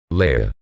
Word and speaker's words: Leia: the Latin Lux light Leia the name has been pronounced with either a long a or a long e sound as the former Leia